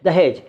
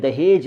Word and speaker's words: दहेज: और तीसरा शब्द जो है दहेज, उसमें नुक्ता नहीं है। उर्दू में जहेज़ कहते हैं तो वहाँ तो नुक्ता है, लेकिन हिंदी में दहेज लिखते हैं इसलिए नहीं है।